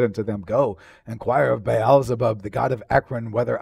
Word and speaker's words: Baalzebub: It actually is pronounced Baalzebub. The B's are actually, the B's are pronounced as V's.